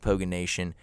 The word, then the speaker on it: Poganation: It is pronounced Poganation, and don't forget to call in at 1-800-POGANATION for the next podcast.